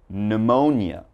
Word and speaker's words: pneumonia: So all right, if you ever see these words in something you're reading, just remember there's a silent P when the word begins with P and is followed by a consonant.